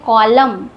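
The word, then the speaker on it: column: इसको पढ़ते हैं कॉलम।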